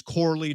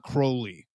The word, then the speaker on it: Corley: I think I spelled his name wrong, but I think it's Corley, not Crowley. Corley.